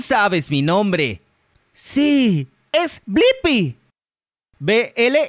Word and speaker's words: Blippi: la internet tú sabes mi nombre sí es blippi bl y PP y buen trabajo ahora sabes deletrear y pronunciar mi nombre hasta la próxima chicos adiós